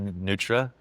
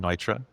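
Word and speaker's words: Neutra: make mistakes like I I pronounced one Richard Nutra, a very famous modernist architect, Richard Nitra, if you want to I was corrected by the modernism guys.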